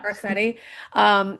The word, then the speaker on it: Garcetti: Garcetti.